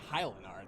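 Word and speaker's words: Haillenarte: Hylanart. That's how you fucking pronounce that.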